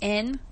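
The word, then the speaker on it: Enne: We have N, which is E-N-N-E, but it's pronounced like the letter N, and then Levi.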